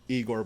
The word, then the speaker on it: Igor: so it's like China orange and blonde or Igor by tide of the creator Mike it's pronounced I go did you listen to any